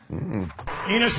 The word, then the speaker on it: Enus: Enus rhymes with um Venus.